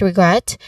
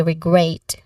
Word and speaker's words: regret: Pronunciation wise, the word regret, the E in the first syllable has a short E sound, regret. Re.